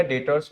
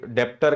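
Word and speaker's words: debtors: ध्यान रखिएगा डेटर्स में बी जो रहता है वो क्या रहता है? साइलेंट रहता है। पहले ही दिन अगर जाके बोल दिया डेप्टर का लिस्ट भेजिए समझ जाएगा कि कितने बड़े अकाउंटेंट हो।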